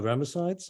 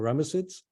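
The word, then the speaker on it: Ramesside: those first two dynasties are the ramasites or ramacets however you want to pronounce it so I think it's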